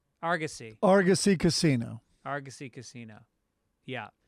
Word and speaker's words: Argosy: 11th and uh uh Chris Denman is writing pronounce Argus e argussy Argosy Argosy Casino Argosy Casino yeah please show up